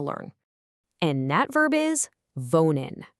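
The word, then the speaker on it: wohnen: And that verb is vonin. You say it like v o n.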